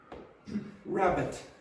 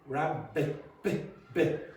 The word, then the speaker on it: rabbit: Rabbit. Rabbit. Rabbit. Rabbit. Rabbit. You hear that's a bit weaker than what I'm pronouncing? Rabbit. Rabbit. Rabbit. It's a bit, it needs to be stronger.